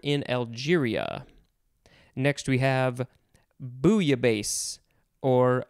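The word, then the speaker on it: bouillabaisse: algeria next we have booya bass or booya base or yeah i think that's good i always thought you pronounced the l's in this one but i guess you don't b o u i l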